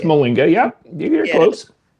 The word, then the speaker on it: Mollinga: I want to big up TB and Ron Mullings. Molinga. It's pronounced Molinga.